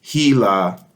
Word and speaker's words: HeLa: occurs throughout the book it is pronounced hela about chronology chronologically dates